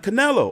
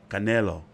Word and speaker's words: Canelo: But he's never, obviously, fought, you know, someone like Canelo. Or Canelo.